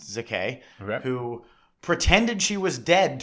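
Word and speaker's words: Székely: AA Ava Zak uh spelled s z e k e l y but I believe it's pronounced Zak who pretended she was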